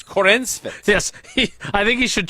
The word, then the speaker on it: Corenswet: So if you do Google Corn Sweat. Corenswet. It's Corenswet.